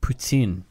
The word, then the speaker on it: poutine: Poutine. Whoa, Mike. I know feel how like to pronounce you just...